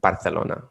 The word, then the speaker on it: Barcelona: coffee here in particular barcelona barcelona and catalan barcelona okay did you get that miguel there's two different pronunciations here uh but anyway